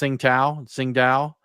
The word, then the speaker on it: Tsingtao: Yeah, and then of course you got I believe it's pronounced Tsingtao.